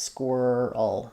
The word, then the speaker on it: squirrel: Other words with and um the other thing that can help is you might find actually it's not as hard for you to say whirl or world girl. any of these other words also have that same combination.